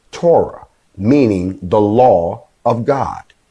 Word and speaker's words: Torah: every four letter spells t-o-r-h the hebrew word that's pronounced torah meaning the law of